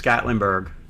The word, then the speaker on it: Gatlinburg: It's Gatlinburg. No S. No S.